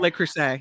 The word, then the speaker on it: Le Creuset: Crusade for her wedding I'm so glad you said it because I was going to say I was gonna say it wrong uh lay Crusade is that how you say it Le Creuset yeah really nice cookware it's